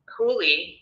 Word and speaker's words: Julie: And Huli, which is how you pronounce Julie, but it's Huli.